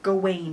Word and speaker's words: Gawain: my favorite stories was sir gawan and the green knight or sir gawain in the green knight if that's your preferred pronunciation for some reason and